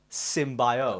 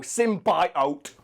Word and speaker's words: symbiote: fiction pronounce it the symbiote oh it's the symbiote is it because it's symbiosis the word and they put in the work Oh sim buy out we make it different